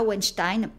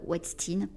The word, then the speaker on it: Weinstein: l'américaine, pour le coup, c'est pas Weinstein, tout comme c'est pas Epstein, c'est aux States, ils disent Weinstein et Epstein. Ça fait bizarre pour nous français, mais voilà, je le prononce à l'américaine pour le coup.